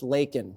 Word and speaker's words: Laken: kamla had done her job vetting these people lakan would still be alive and it's pronounced Laken Joe Biden all right now if you're going